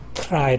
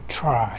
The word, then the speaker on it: try: 이렇게 잇몸에 만 탔습니다 그래서 true 를 바람 한테 투 러 가지 않고 추 try 를 발음할 때 트라이 라고 하지 않고 쳐라 이런식으로 발음이 하죠 이 부분에 대해서 우리 원어민